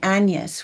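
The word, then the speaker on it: Agnes: into the lives of William and Anas, which that's how they pronounce it in the film. So that's how I'm going to pronounce it in this review. So that's why I'm saying it that way.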